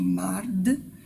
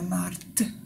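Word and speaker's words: մարդ: Pour ceux qui lisent, il y a écrit mard, mais on dit bien Marthe avec un T.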